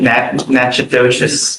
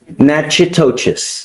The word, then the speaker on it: Natchitoches: You're wanted out of, Louisiana, Natchitoches Parish. I butchered the pronunciation, but. Natchitoches. Natchitoches. What is it? Natchitoches.